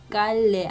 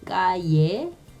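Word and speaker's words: calle: 그 다음에 이것도 깔레 아니고 까예.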